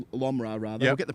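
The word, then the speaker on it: Lomror: Now Mahimal Lomar Lomra rather we'll get the pronunciation right as we go.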